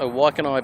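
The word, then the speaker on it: Waikanae: That is how you pronounce a Waikanai Beach.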